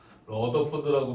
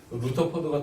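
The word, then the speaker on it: Rutherford: 그러니까 사무엘 요즘에는 그 루터포드라고 표현하기도 하고 러더포드라고 표현하기도 하는데 사단과의 평화보다는 즉 사단이 움직일 때 침묵하는 것보다는 사단과의 뭐가 낫다? 전쟁이 낫다. 사무엘 요즘엔 루터포드라고 또 있더라고요. 예전에 러더포드가 하도 익숙한 발음이었는데 루터포드가 또 맞대요.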